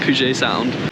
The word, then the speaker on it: Puget Sound: How do you pronounce it? Puget? The Puget? Puget Sound.